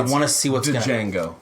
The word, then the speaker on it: Django: Django, by the way. Whatever. No, I'm kidding. I know it is. On the D is silent.